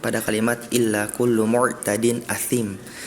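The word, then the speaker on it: أثيم: Yang pertama ada di surat Al-Mutaffifin tadi pada ayat 12, pada kalimat illa kullu mu'tadin athim. Tadi athimnya terdengar seperti huruf sin, ya, athim gitu. Tadi asim, tadi Ananda Aisyah bacanya.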